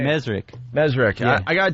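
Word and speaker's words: Mezrich: Mesrick.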